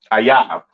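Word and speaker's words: אויב: Ayab. Okay, that is how you pronounce enemy. All right, in the Hebrew, Ayab.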